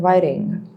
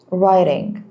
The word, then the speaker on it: writing: Well, silent W as in writing. Writing.